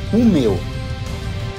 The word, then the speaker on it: Umeå: destino cidade de Romeu apesar da grafia um meia se pronuncia o meu é a maior cidade